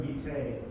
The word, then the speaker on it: vitae: Or curriculum vitae, right?